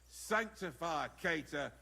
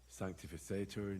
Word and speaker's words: sanctificetur: You're saying it wrong. Listen. It goes like this. Pater Noster, qui es in celis, sanctificetur nomen tuum.